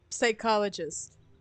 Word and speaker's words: psychologist: as like psychologist. The P is silent though.